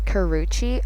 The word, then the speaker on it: Karrueche: Okay, so I googled how to actually pronounce her name and it's Karrueche.